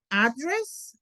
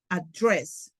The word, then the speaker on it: address: Entonces, hay muchos verbos o muchas palabras en inglés que son sustantivos y verbos y cambian la sílaba tónica. ¿Mm? Address, sustantivo, noun, address, verb.